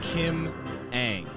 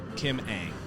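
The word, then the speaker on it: Kim Ng: what it's all about uh also the correct pronunciation of kim's name is kim aang saw an interview like yeah a-n-g kim aang thanks for what it's worth that was a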